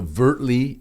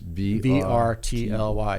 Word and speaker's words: vrtly: So vrtly is the name. How do you spell that again? vrtly.ai is the URL. Not V-E-R, just V-R-T-L-Y, yes.